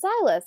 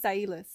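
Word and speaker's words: Zylas: how is it pronounced in the audiobook it's pronounced uh zailis xylis rhymes with yeah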